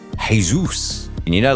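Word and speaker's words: Jesús: service the church but it's probably not Jesus though is it's probably hey-zeus and you know like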